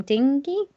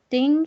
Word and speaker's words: Digne: And I think he's referring to the whole Mendy versus, I'm not entirely sure I'd say his name, Digne. Digne. I think it's argument. Digne. Like dinner. Like dinner.